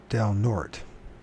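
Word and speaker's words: Del Norte: Fort nort it's pronoun the way we pronounce it is Del nort that okay D North learn something new every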